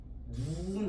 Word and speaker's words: 눈: 이거 어떻게 발음하라고요? 길게 발음을 해주세요. 똑같지만 지금 끊어져요? 안 끊어져요? 끊어지지 않죠? 이렇게 길게 발음하는 아이들. 이걸 뭐라 합니까? 장단. 소리의 길이에 따라서 뜻을 구분하는 걸 비분절 음문이라고 얘기합니다. 짧게 발음해 볼까요? 눈, 아입니다. 눈 하면 어떻게 돼요? 하늘에서 내리는 눈이 내리는 거지.